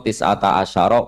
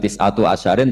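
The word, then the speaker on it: تسعة عشر: Padahal itu jadi mubtada muakhar aliha iku tetep ing atase neroko tisata asyaro utawi 19. Tetap bacanya bukan tisatu asyarin tapi tisata asyar.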